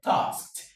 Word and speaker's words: tasked: So the ed here is pronounced as ta, tasked, tasked.